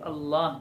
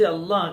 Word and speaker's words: اللہ: ہمیں سیکھنا ہے۔ اللہ، بہت سے لوگ اللہ اللہ بولتے ہیں، اللہ نہیں ہے، اللہ، یعنی یہ لفظ اس طرح بولا جائے کہ منہ بھر جائے عظمت سے، دل بھر جائے، اور زبان اس لفظ کے تلفظ میں منہ بھر کر تلفظ کرے، اللہ اللہ، اس لفظ